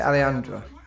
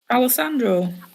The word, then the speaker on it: Alessandro: I say Alejandro. Alessandro. Alessandro. Alessandro. So we're really putting the emphasis on the sand part. Well, just Alessandro. Just pronounce every letter that you're seeing there, and don't try and turn the two S's into a H because you think it's got an accent.